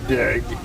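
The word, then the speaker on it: Dague: Dag. Last name spelled D A G U E. And it's pronounced D. D. Just put a D in front of an egg.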